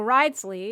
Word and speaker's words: Wriothesley: I mentioned that I have had personal dealings with the administrator of the fortress, Wriothesley. He's a very shrewd fellow. So Wriothesley is how it's pronounced.